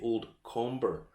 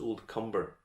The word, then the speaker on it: Comber: lot of people will see this and say old comber it's not it's old cumber that's how it's pronounced yeah don't ask why but anyway just